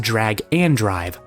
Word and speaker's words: Drag x Drive: The game is read as Drag X Drive, but it's supposed to be pronounced Drag and Drive.